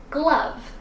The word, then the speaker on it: glove: now it turns into glove. Same pronunciation, just a G in front. The E is silent. The O actually kind of sounds like a U sound.